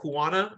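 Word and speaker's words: Huanan: that it came from animals sold in the Huana, which is how you pronounce it, the Huana seafood market in Wuhan, specifically bats.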